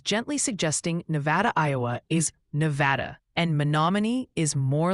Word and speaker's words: Nevada: Oh, and the pronunciation Posi is gently suggesting Nevada, Iowa is Nevada, and Monomony is more like Monomony, just FYI.